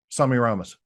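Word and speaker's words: Semiramis: Um, do you say, let me ask you pronunciation. Do you say Samirus or Semi Ramas? Sami Ramos.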